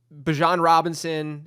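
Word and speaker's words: Bijan Robinson: and that's bench management where if you have Bjon Robinson, I said it right that time.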